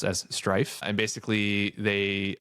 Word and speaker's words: STRF: Strategy also announced this perpetual preferred stock offering, STRF, which they pronounce as Strife.